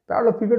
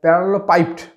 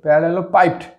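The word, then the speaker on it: parallelepiped: বস্তু হচ্ছে একটা হচ্ছে তোমার হচ্ছে প্যারালালো পিপেট প্যারালালো পিপেড বা উচ্চারণটা এরকম হয় প্যারালালো পাইপড পাইপড আমি লিখে দিচ্ছি প্যারালালো পি এ আর এল এল ই এল ও প্যারালালো পাইপড পি আই পি ই ডি প্যারালালো পাইপড প্যারালো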